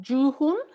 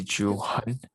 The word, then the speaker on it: Juhan: So is your name pronounced Juhun? It's actually Juhan.